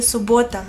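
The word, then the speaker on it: суббота: En ruso se dice subota. Pongan atención que hay dos b aquí.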